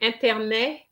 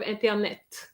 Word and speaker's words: internet: Unfortunately, internet is a name, and it's not a French name, so we have to go with the original pronunciation, which is internet. Okay. Of course, it would be internet in English, but the IN still remains, it's a French sound which exists. So we're going to say internet.